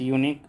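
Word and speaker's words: unique: Question number 31 this is dash यूनिक site इसमें article भरना है। इसका ए होगा आंसर 31 का ए क्योंकि इसका उच्चारण य से होता है।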